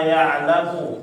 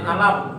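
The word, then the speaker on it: يعلم: Terus yang sebelumnya hati-hati ya di ayat 14 ala ya'lamu, jangan alam ya, tadi ketambahan huruf mim. Ya, jadi jangan tambah lagi di huruf mimnya ala ya'lamu.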